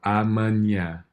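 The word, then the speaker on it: amanhã: you go and the the stress is gonna be on this last uh syllable so amanya amen yeah and then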